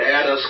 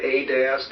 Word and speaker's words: Adask: us on Skype, Adask. Is that correct? I say it Addis. I'm not the only one who does, but I'd say it's I I pronounce it Addis, but I hear Adask and Adas, and I